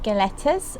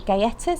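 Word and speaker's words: galletas: It's Leche y Galetas, or Gayetas, I think you would say. You don't pronounce the L's.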